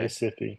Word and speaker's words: Recife: Did he pronounce that right, Vanessa? Recife, Uh, yes. oh, Yeah, okay. Recife.